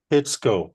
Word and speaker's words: Pitsco: it it does pit it sounds like a gas station pitsco P TS o yeah education yeah yes but that that is how you pronounce it yeah so there go